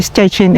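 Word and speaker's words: Szczecin: Tapos dito nakalagay ay stetin. So in German and stchin in Police mga kababayan.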